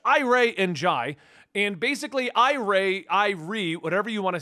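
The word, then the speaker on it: Irey: Now I've always said Ray, but apparently some people got upset with my pronunciations and think that I give a but it's Irie.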